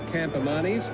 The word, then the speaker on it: Campamanis: It is Campamanis, and Campamanis was a champion Spanish chess player, so that's how he got his name.